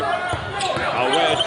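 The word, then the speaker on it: Awet: It's A-W-E-T. Right, but it's pronounced Awed, like with a D.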